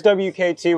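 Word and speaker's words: WKTP: It is WKT with a silent P at the end.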